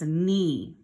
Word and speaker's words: knee: Remember I told you it starts with a K, but it's silent. We say nothing for that sound, and that word says knee.